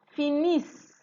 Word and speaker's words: finissent: The ENT is not pronounced, so you are ending at finissent. So that's the difference between this and this. Il finit, elle finit, ils finissent, elles finissent. Did you get the S there? The S in finissent are pronounced.